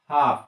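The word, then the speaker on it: half: काफ उसी तरह से हाफ एच एल एफ हाफ इसका सही प्रोन क्या होगा हाफ क्यों क्योंकि एल के बाद मेरा क्या आ रहा है एफ आ रहा है और एल का उच्चारण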